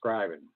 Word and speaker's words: scrying: Melinda Raven Jackson, Lady Knox, Divination is scrying. Did I say it right? Scrying, yes. Scrying.